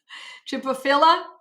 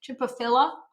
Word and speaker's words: Chimaphila: Chipophila, or sometimes I pronounce it philia and I'm wrong. There's not an IA, it's just A at the end. So Chipophila.